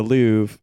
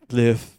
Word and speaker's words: Louvre: Why is Louvre spelled with an R? It's French. That's Louvre? what they do. Yeah, that's what they do. It should be spelled Loove.